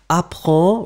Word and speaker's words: apprends: Apprends, remember, this is the way to write it properly. In the end, it's D-S. So it should be there.